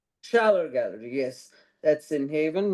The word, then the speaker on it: Schaller: Am I pronouncing it correctly? Scheller Oh, Gallery. Schaller. Scheller Gallery, yes.